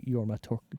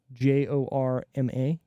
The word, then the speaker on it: Jorma: by AKA schaer and yorma tone I think that's how you say it j o r m a yorma yorma Jorma no idea whatever rated